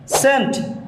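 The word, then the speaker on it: scent: এর উচ্চারণ হয়েছে বেখন সেন্ট সেন্ট মিন্স সুগন্ধি এখানে এস এর উচ্চারণ হয়েছে সি এর উচ্চারণ হয়নি সেন্ট সিন এখানে সি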